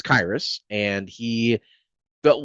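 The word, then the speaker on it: Khyiris: And I just want to point out that it is Kyus. It's like Iris with a K.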